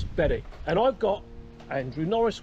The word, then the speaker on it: Berwick: I think that's how they pronounce it. It's Berwick.